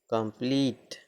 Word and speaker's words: complete: में ई से जुड़ा हो तो ई का उच्चारण ई होता है। जैसे COMPLETE कंप्लीट, COMPLET कंप्लीट, IMPEDE impede मतलब बाधा डालना, STAMPEDE स्टैम्पीड मतलब भगदड़।